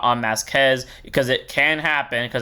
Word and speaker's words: Masques: average demonic Dragon King greed on masz or greed on mask whatever the you want to call it even though mask is how they pronounce it in English dub great 3% 13k base